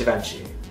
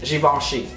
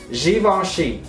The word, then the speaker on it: Givenchy: love fashion you know that's not how you pronounce jenci okay that let's be real you don't pronounce it like that don't you ever pronounce it like that it is xoni xoni please it's literally on Google okay it's here